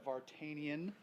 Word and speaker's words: Vartanian: Vartanian. Rhymes with D'Artagnan.